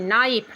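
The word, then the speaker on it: knife: need means गूंथना फेटना या सानना आगे है के एन आई एफ ई नाइफ नाइफ means चाकू आगे है के एन ओ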